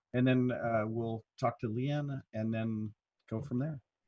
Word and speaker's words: Leanne: Leanne, how do you say your name? Leanne? Is it Leanne? Leanne. There's just no A on the end, but you're close enough.